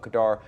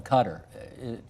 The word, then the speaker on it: Khadr: a little tangent here you keep calling him Kadar and I call him cter what's the difference in the pronunciation uh I think it's just largely a my mother's actually from Afghanistan that's how she pronounces it that's okay so maybe we're putting a Canadian kind of expression on or a Canadian pronunciation on it I may well put